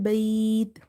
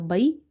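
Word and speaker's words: بيت: So if you see ba ya fatha bai same pattern before ya sakin you have fatha Here you were having same before ya sakin you were having fatha before ya sakin you have fatha So it means that here ya was lin ya lin ya lin Lin letters are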